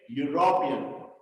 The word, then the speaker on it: European: Yo, university, yo, Y sound like European. Okay, European. The more stress is on ro, second letter.